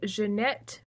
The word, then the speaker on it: Jeanette: Her character is Jeanette. Oh. I said that right. It's French.